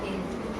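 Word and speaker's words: hedge: उच्चारण करते इसका, बताओ, जब हमें पता नहीं था तो हेड्स, है ना, लेकिन गलत है वो, क्योंकि जी से पहले हमारा डी आया तो इसको हमने साइलेंट कर दिया। इसको पढ़ेंगे हेज।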